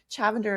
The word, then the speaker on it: Chavender: Chavender is spelled like lavender, but with a CH at the beginning.